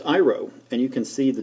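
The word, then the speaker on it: αἴρω: thinking this is all Greek to me it's pronounced iro and you can see the different definitions to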